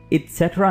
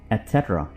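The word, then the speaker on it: et cetera: इट्सेट्रा नहीं बल्कि आप इसे बोलेंगे एटसेट्रा, एटसेट्रा, एटसेट्रा।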